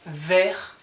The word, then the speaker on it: vert: Vert, so it's not vert, but vert, so you don't pronounce the T here, vert.